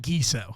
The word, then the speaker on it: Giesow: gizo thank you so much for did I pronounce it right gizo gizo gizo you got it man dude man